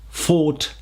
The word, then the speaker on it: fought: Fight, fought, fought.